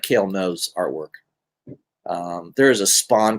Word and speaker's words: Ngu: So again, Kale No, last name is spelled NGU.